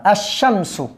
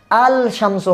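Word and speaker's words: الشَّمْسُ: লেখায় আসবে, উচ্চারণ হবে না, উচ্চারণ হবে না, উচ্চারণের ক্ষেত্রে আসবে না। তাহলে এটা কি হবে? আশামসু, আশামসু। আল শামসু হবে না, আল শামসু কোনোদিনও হবে না।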